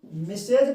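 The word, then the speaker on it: Mrs.: पढ़ेंगे मिसेज पढ़ेंगे है ना इंग्लिश में इसको मिसेज पढ़ा जाता है स्पेलिंग मिसेज का ऐसे होता है एम आई एस टी आर E double S यानी टीप्सेंट हो जाता है।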